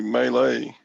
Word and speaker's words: melee: that mealy melee um why is it melee i don't know it's really melee oh gwen said it's french okay i don't know